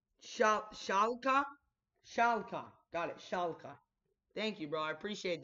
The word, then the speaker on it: Schalke: so I I'm really sure that I cannot pronounce amid Schaap Shaka Shaka got it Schalke thank you bro I appreciate that man appreciate